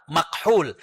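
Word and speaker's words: مكحول: Ya, tadinya tulisannya itu nyambung tapi takutnya hadirin bacanya makhul ya. Maka saya kasih strip karena tulisan Arabnya adalah mim kaf ha wau lam makhul.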